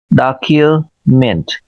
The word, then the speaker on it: document: जिसको हम कैसे पढ़ेंगे? डॉक्यूमेंट, और फर्स्ट सिलेबल पे स्ट्रेस है, डॉक, य, डॉक्यूमेंट, ये शवा है, ए की साउंड है, और ये यू की साउंड है, डॉक्यूमेंट, डॉक्यूमेंट, डॉक्यूमेंट। इसको डॉक्यूमेंट पढ़ेंगे, डॉक्यूमेंट नहीं पढ़ेंगे, डॉक्यूमेंट।